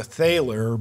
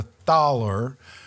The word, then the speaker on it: Thaler: to us from Germany the taller it's it's spelled like it's the thalor but it's the thaler which is a large